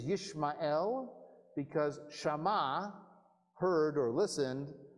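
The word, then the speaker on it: ישמעאל: Again, you lose the pun in the English. His name is Yishmael, because Shama, heard or listened, a God, El.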